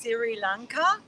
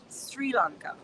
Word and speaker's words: Sri Lanka: So it comes out as Sri Lanka. And then I said, no, mum, it rhymes with three, Sri Lanka.